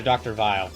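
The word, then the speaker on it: Weil: It's German and actually pronounced closer to Dr. Vile.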